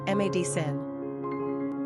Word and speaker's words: Madison: three ranking popularity nine pronunciation mad Sen simple meaning Mighty battle